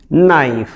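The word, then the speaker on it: knife: तो ये के बाद यदि एन आता है तो हम सीधा ने का उच्चारण करते हैं, के एन आई एफ ई, नाइफ।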